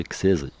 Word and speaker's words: Xeiz: Et au final, en phonétique, je me suis dit, en l'écrivant, en fin de compte, c'était naturel de le prononcer X16, X-E-I-Z, en fait.